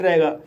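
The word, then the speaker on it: raw: आर को रा पढ़ा जाएगा, ए को ओ पढ़ा जाएगा और डब्लू साइलेंट रहेगा।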